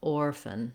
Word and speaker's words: orphan: I'm trying to move as quickly as possible from the F to the N sound. That's called a syllabic N. Basically, the N is the whole syllable. We just say the N sound. We don't need much vowel before it.